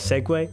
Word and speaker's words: segue: Segue. Seu. That's a weird spelling. Segue. Really? That's how you pronounce those letters?